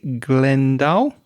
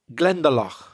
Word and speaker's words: Glendalough: a day trip and go to am i pronouncing this correctly glendale glendalough glendalough oh we had loch a couple of